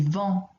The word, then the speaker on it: vent: Il y a du vent. Here we don't pronounce the T, vent.